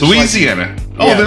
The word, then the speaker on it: Louisiana: you from what state I'm from Louisiana I say it Louisiana some people say Louisiana it's Louisiana so what is life